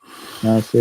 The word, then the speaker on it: Nasir: Nasir. That's how you pronounced it.